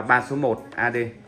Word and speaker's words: 111 AD: Chúng ta đọc là 3 số 1 AD.